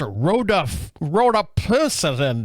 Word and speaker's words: rhodopsin: Actually, it's pronounced rhodopsin and some.